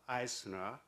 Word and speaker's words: I²CNER: research wha I square the CME Oh pronounced Eisner of kiss University I